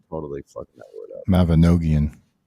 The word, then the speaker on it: Mabinogion: Mabinogion. Mabinogion.